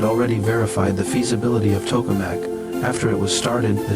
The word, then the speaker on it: tokamak: Its Russian pronunciation is tokamak, commonly known as the artificial sun.